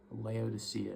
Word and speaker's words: Laodicea: It's spelled Laodicea. Laodicea is how I'm pronouncing it.